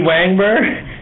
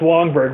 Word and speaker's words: Wangberg: Wangberg? It's actually pronounced Wongberg, but no worries, everyone gets it wrong.